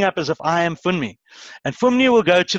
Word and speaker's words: Funmi: They were Funmi. All right. How do you pronounce it?